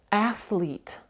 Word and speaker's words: athlete: оце цікаве слово чому Тому що наголос іде на передньому звуці е велике відкрите е але в нас друга голосна і довге і подовжена переважно в англійській мові довгі голосні вони під наголосом але тут у нас є athlete Бачите athlete ми не кажемо athlete але ми кажемо athlete Але разом з тим оцю останню і подовжуємо ще раз прочитаємо Birthday